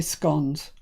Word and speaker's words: scone: But from the people up north, we say scones. So that's, that's obviously the right way to say it. Scones.